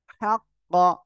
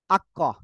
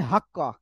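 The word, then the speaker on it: حق: তারপরে হা কফ জবর হাক কফ জবর ক হাক্ক এই যে হা টা উচ্চারণে অনেকে ভুল হয় অনেক বলে আক্ক অনেকে বলে হাক্ক গলাটা চেপে মুখ দিয়ে হালকা বাতাস বের করে উচ্চারণ করবেন হাক্ক হাক্ক ঠিক আছে পারবেন না আপনারা ওকে ইনশাআল্লাহ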